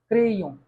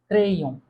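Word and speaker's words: crayon: Okay, अच्छा, तीसरा हम एग्जाम्पल देखें अपना, सी जब आर यानी कॉन्सोनेंट के साथ आ रहा है तो क्या प्रोनाउंस हो रहा है? क्रेयों, से, आर, से, एर आ इग्रेक ओ एन, क्रेयों।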